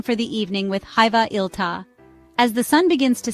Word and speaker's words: iltaa: The second word, iltaa, sounds like iltaa, with the emphasis on the first syllable.